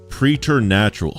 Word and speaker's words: preternatural: pratal pretal pratal pratal so like the word predator and natural preder natural not prer